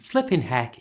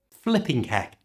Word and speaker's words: flippin' heck: To pronounce flippin' heck naturally, don't say the G at the end of flipping. Flipping heck just sounds strange, so it's just flippin' heck.